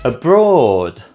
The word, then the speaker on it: abroad: Abroad is the second syllable.